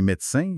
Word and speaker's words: médecin: Le fameux « e » muet qui saute. Ah oui? Médecin devient médecin, semaine devient semaine.